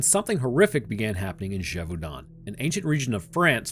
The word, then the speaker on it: Gévaudan: In Gévaudan, France, did you like that pronunciation? All right, I'll say it right. In Gévaudan, I know, apparently that's how you say it.